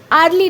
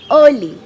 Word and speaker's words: early: तार प्रोनाउंसिएशन कौन, अर्ली, आर्ली नुह, अर्ली, राइट।